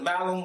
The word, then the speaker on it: malum: Also in Latin, the word malum with a long A, malum, and malum with a long A is apple. Malum with a short A is evil.